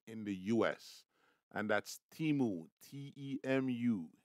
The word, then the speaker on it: Temu: the fastest growing in the US and that's teamu t-e-m-u it's pronounced timu and basically what they do is that they